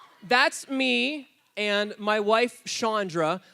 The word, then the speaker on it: Chandra: That's me and my wife, Chandra. It's spelled Shauna, but remember, it's Chandra, okay?